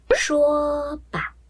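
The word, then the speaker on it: 说吧: 来，我们举个例子啊，一声轻声的时候，说吧，说吧，说吧，这个轻声很低，很短，很轻，对不对？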